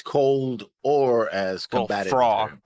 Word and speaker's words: Frau: Fra. That's how I keep Fra. pronouncing it. Fra. It's with a W sound.